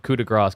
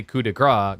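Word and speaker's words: coup de grâce: Because if you say coup de grace, gras means fat. So you'd be saying like final fat or something like that.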